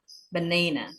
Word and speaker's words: banana: For example, pisang itu di suku kata kedua itu ada apostrof. Itu berarti penekanannya di suku kata kedua. Banana.